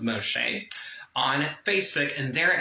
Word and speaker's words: Moisant: And you can check out my personal Facebook profile on Facebook as Moisant, which is pronounced Moshe, on Facebook, and there